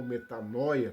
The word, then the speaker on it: metanoia: A palavra arrependimento vem de uma palavra grega, metanoia, ou metanoia, como alguns pronunciam, que quer dizer mudança da mente.